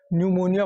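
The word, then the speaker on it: pneumonia: ठीक है, पी न्यूमोनिया लिखते हैं, पी साइलेंट होता है, न्यूमोनिया पढ़ते हैं।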